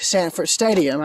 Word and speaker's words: Sanford Stadium: this stretch the railroad I kept mispronouncing the name but it is Samford Stadium not segment Coliseum where they play basketball but Sanford said in where they play football so there you go